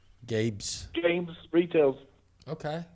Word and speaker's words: Gabe's: Is he saying Gabe's or Gaines? Games. Spell it. Gabes. Gabe's. See, Gabe's. But It's a he's retail saying Gaines, but I heard Gaines, but it's Gabe's.